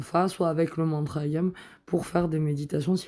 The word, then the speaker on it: YAM: Alors, il faut savoir que le mantra qui se rapporte au chakra du cœur, c'est le mantra YAM. Et on va le prononcer comme ça. Yam.